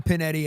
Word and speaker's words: Pignetti: It's Penetti and the G is silent, but there was a G in there.